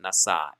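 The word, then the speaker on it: נָשָׂא: there's the olive and it's just pronounced nasa as if the aleph was in a but the a vowel is actually underneath the letter sheen and the aleph is just there for structure okay all right so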